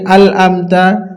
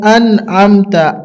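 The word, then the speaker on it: أَنْعَمْتَ: জায়গায় হবে আতা অনেকজন পড়ি আমতা অনেকজন পড়ি আল আমতা কিন্তু আসলে এটা হবে আন আমতা আন আন আমতা আলিফ নুন জবর আন আইন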